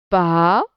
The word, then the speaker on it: pas: Alors, La fille n'avait, le T c'est une lettre muette, pas, le S aussi c'est une lettre muette, fin, faites attention, A-I-N ça se prononce, un, ce, matin.